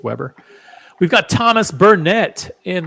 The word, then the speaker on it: Weber: pronounces it vber it's Weber yeah I've never yeah in the continental United States it's Weber we've got Thomas Bernett